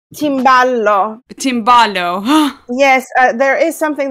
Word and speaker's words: timballo: I love how you have the macaroni and also the timbale. Am I pronouncing that correctly? Timballo.